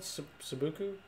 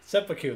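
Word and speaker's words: seppuku: it you probably should what is it called subuku uh you said something weird and now i can't sepuku there it is i was close yeah i just i had the wrong syllables it kind of is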